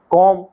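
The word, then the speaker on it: comb: कीजिए और लिखकर उनका अभ्यास भी कीजिए बी साइलेंट कोम कंघा लैम मेमना थम अंगूठा सी साइलेंट सेंट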